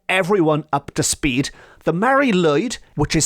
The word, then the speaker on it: Mari Lwyd: just to get everyone up to speed the Mary lyd which is spelled m a r i Mary lyd lwyd